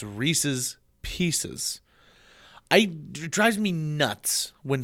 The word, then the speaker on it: Reese's Pieces: and Dale Rescue Rangers people also say Reese's pcs that's not right it's Reese's Pieces I drives me nuts